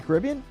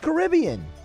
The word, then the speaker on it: Caribbean: But it's pronounced Caribbean. Alondra, what's the name of the movie? Someone pass her a microphone, please. What's the name of the movie? I say Caribbean.